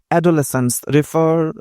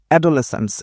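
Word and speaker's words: adolescence: বলা হয়েছে the word অডোলেসেন্স রেফারস টু অডোলেসেন্স এটার মানে কি অ্যাডোলেসেন্স উচ্চারণটা হচ্ছে অ্যাডোলেসেন্স অ্যাডোলেসেন্স মানে হচ্ছে বয়স সন্ধিকাল অর্থাৎ এটা শিশুও না বাচ্চাকাচ্চাও আবার পুরো পরিপূর্ণ যুবক-যুবতীও না।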